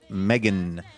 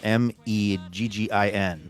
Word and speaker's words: Meghan: Yes, but it's pronounced Megan. Megan writes the pronouncer Meggin.